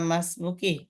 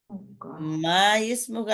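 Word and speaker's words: ما اسمك: মাসমুকা মাসমুকা মাসমুকা বা মাসমুকি তোমার নাম কি এই আলিফটা ইমরাতুনের আলিফের মতো মিলে আসলে এই আলিফের উচ্চারণ হয় না মা ইসমুকা এমনি না মাসমুকা মাসমুকা কি?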